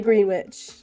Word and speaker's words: Greenwich: Greenwich Mean Time yes I wanted to say Greenwich not because we're just saying it wrong no it is nobody's